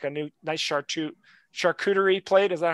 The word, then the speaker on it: charcuterie: and cheese had like a new nice chart charcuterie plate is that how you say it yes